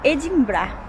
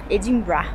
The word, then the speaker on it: Edinburgh: um nome diferente mas eles pronunciam de uma forma um pouco diferente eles falam edimbrar Edimar uma coisa assim é uma cidade muito bonita